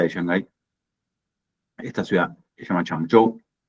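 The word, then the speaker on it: Changzhou: Y yo vivo acá cerquita de Shanghai, esta ciudad llama Chango. La ZH en chino también se se pronuncia como como la CH nuestra digamos es una zona ultra desarrollada.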